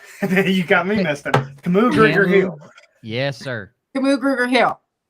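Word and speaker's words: Kamu Grugier-Hill: Camus Gruger Hill.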